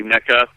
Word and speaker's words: NECA: Yeah, you factor in all these other collector toy companies like Nika and is that how you pronounce it? NECA. Yeah, some people say Nika. I've heard other people say NECA.